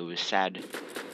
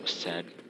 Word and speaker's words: WASD: It was sad. That's what people pronounce it. That's how I pronounce it, was sad. Was sad, I don't know.